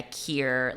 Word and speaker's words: Kier: Kier like like if it helps. Yeah. People call me Kier like just as my name if that helps. Like rhymes with beer.